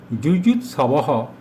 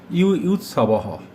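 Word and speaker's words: যুযুৎসবঃ: সংস্কৃতে অন্তস্থ জ এর উচ্চারণ ইয় হয়। তাই যুজুৎসবহ না বলে আমরা বলব ইউইউৎসবহ।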